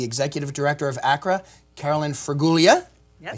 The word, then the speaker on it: Fraguglia: The Executive Director of ACRA, Carolyn Fraguglia.